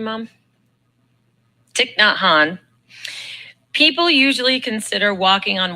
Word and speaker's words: Thich Nhat Hanh: And then Thich Nhat Hanh, is that how you pronounce his name, Mom? Thich Nhat Hanh.